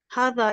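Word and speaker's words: هذا: is this next okay it says Hatha is pronounced but it is written without the first alif Arabic has no word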